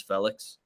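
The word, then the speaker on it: Félix: I also found out that we've been saying Yao Felix's name wrong the whole time, and it's Felix.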